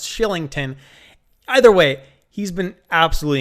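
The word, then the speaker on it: Kylington: good player to add then i have oliver carlington although i actually found out recently it's pronounced shillington either way he's been absolutely incredible not getting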